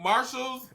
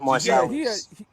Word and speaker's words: Marsalis: All right, I think Marshall's or it's pronounced Marsalis. Marsalis.